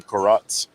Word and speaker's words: carottes: They call them carottes, and which is Cajun accent on the word carrot. And they open them all